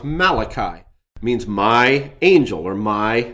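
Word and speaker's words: מלאכי: So a would be my god or malaki what we usually pronounce malachi means my angel or my messenger.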